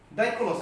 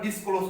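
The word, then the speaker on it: Dyskolos: ডাইক্লোস আমরা এসএস উচ্চারণটা সাইলেন্ট করব। কি করব? ডাইক্লোস করব। আমরা ডিসক্লোজ করব না।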